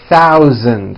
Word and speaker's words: thousand: stars in this paragraph be aware of my pronunciation of numbers especially the th and the voiced Z sound in the word thousand thousand okay here we go